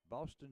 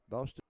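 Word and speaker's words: Bosston: Boston Johnson. It's pronounced just like Boston, Massachusetts.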